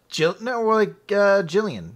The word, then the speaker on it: Gillian: It seems like a girl, but the name is spelled Gillian. Yeah, like Jillian.